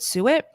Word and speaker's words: suet: That's how it's spelled, and you pronounce it suet.